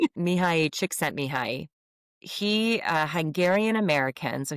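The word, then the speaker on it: Csikszentmihalyi: His name is Mihi Chickset Mihi. Say that. Yeah, you're not going to be able to spell it, but say that to No, I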